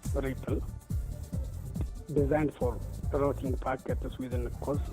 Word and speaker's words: RPL: This routing protocol for low power and low C networks is pronounced as RIPL, designed for routing packets